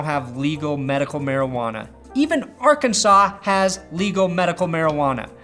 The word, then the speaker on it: Arkansas: legal medical marijuana even Arkansas has legal medical marijuana a state so backwards it has a silent S at the end of its name eight states now allow